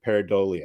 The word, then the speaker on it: pareidolia: The nature of seeing something in the clouds is called pareidolia, if I'm pronouncing that right, pareidolia. Yes, you are.